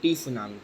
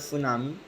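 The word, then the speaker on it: tsunami: इसको बहुत बच्चे टी सुनामी पढ़ते हैं, सो इट्स नॉट the correct pronunciation, it's called सुनामी।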